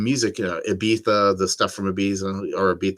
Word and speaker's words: Ibiza: Ibiza, the stuff from Ibiza, or Ibiza, however you say it. I say Ibiza, but technically it's written with a Z and it's pronounced TH.